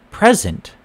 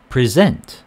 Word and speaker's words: present: first syllable happy clever most two syllable verbs on the second syllable this is where the context clues come in this is where listening comes in very important because we have the word present present present present spelling exactly the same way but there are